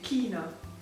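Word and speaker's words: Kína: So this is just a bit different in Hungarian. We say Kina.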